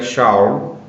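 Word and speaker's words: שאול: O que aconteceu é que Saulo, que é um nome hebraico, que se pronuncia Shaul, como já acabei de citar, é um nome hebraico.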